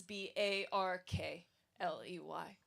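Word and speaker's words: Berkeley: see it spelled is B A R K L E Y. So that suggests a pronunciation of R Barkley which is still the current pronunciation in England.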